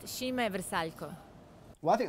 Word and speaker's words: Šime Vrsaljko: It is pronounced Šime Vrsaljko.